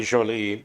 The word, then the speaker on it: Jolly: who else what else a director named Thomas j l l y might be Jolie but his name is spelled Thomas jolly and he's a homosexual